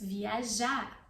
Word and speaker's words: viajar: Amanhã de manhã nós vamos viajar. Nós vamos viajar. I don't pronounce the R because it's the verb and I don't want to pronounce it. It's optional, you can too.